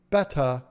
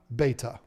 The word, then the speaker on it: betta: the pet peeve time it's betta not beta thank you for that